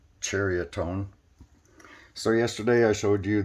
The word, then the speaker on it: Ceriatone: me I wasn't sure if it was uh pronounced Syria tone or psoriatone it's actually pronounced chariotone so yesterday I showed you the 36 RP